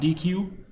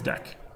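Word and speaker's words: deque: that we'll do stacks cues and this is pronounced Dex someone told me not DQ I thought it was DQ apparently it's deck sure uh that's fine we'll look at those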